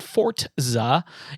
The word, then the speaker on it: Forza: So, you cannot pronounce it forza. It's forza because it's fo r za. And if you were Italian, it would be forza. You would roll the r. You would not put a t in there.